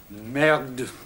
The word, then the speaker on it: merde: Merde. It rhymes with terd.